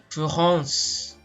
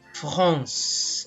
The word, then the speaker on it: France: They pronounce France as France. Okay? Again, France. Okay? Nasal siya, no?